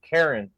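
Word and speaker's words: Charon: wrong the ferryman was Karen that was the actual name it's spelled like Sharon c-h-a-r-o-n but it said Karen which is really funny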